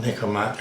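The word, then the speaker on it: Nikkormat: this is a niik mat everybody calls that nikomat n i k k o r m a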